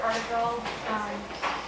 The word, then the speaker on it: Artigal: Yeah, I pronounce it Artigal, and he's named after a character in the Fairy Queen. So I'm pretty sure you can figure out how to pronounce it from the meter, and I'm not remembering it right, but that's how I've been pronouncing it.